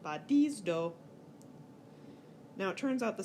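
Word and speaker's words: βαδίζω: So in our sample verb badizdo, you'll notice the last syllable is long, which means the acute goes on the penult, and you get badizdo.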